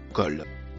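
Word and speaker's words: قال: Elle se traduit par la conjonction et ou alors le mot en couleur marron se prononce colle.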